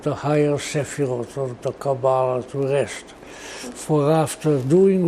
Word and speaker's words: Kabbalah: say, the two buzzwords, one of them being Kabbalah, or Kabbalah, as it is pronounced in Hebrew, because of all the languages that I was browbeaten into studying.